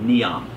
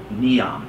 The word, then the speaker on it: NEOM: is to be called neon n-e-o-m think of neo meaning new n-e-o new and then the m it stands for a